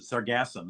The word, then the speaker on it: sargassum: how to pronounce the sargassum the emphasis goes in the middle of it yeah but it's yeah